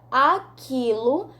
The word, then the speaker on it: aquilo: apenas um som então quando falamos a palavra esquentar não pronunciamos o quê uh quando falamos a palavra aquilo não pronunciamos o q